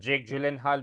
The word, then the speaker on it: Jake Gyllenhaal: she used to watch the Jake jenal movie also that's how you pronounce Jake gyllen Hall okay if you don't